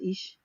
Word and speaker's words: Illyes: It's Illyes, but it's pronounced Ish.